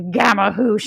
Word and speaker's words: gamahuche: I'm about ready to gamma hoosh all over you.